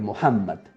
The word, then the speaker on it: Muhammad: en que este mundo Mahoma se dice en árabe muhammad Pero esto es un fonemas difíciles de pronunciar por eso hablamos de Mahoma en español Mahoma insistió en que